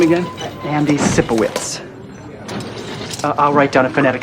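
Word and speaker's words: Sipowicz: Andy Cippowitz.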